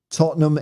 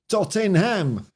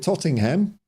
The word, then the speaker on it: Tottenham: of shits you Saran my workmate pronounces it Tottenham regardless of how many times I correct him well you know he's in Fairly good company because Aussie IDE called it tottingham so you know if it's good enough for